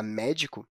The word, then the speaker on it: médico: gente fala ela já a palavra médico com a situação já se lavar mé é uma palavra proparoxítona isso porque a fila